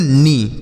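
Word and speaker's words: knee: इसे हम पढ़ते हैं नी क्या पढ़ते हैं सर नी यहां पर के जो है ना इसको नहीं पढ़ा जाएगा यह साइलेंट है लिखा जाएगा इसे लेकिन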